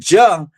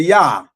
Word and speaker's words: Yah: the name Jehovah, and they said Jah instead of Yah.